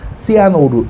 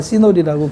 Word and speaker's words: 시놀: 두 글자니까 발음도 쉽고, 뭐, 밑에 받침이 앞에 받침도 없어서 발음하기도 좋고. 그래서 시놀인데, 일본 애들만 얘를 이상하게 불러요. 시아노루, 이렇게 불러요. 걔네들 빼고는 다 시놀이라고 불러요.